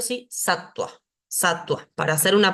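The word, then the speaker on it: sattva: acá tenemos esto ejemplificado la va después de una consonante se pronuncia como u cuando inicia la la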